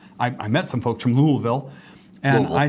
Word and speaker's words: Louisville: They said, well, if you stuff a newspaper in your mouth and say Louisville, that's kind of how they say it. Louisville. Yep. Louisville, oh, yep. Right? Almost like there's an extra L right in there.